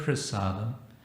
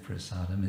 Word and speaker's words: prasada: religion kitchen religion uh the word prasada and we often pronounce it prasad because we like to sound bengali sanskrit would be prasad and this comes from